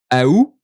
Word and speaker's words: août: Août, August. Some people pronounce it ou also, like without the a, like ou or août.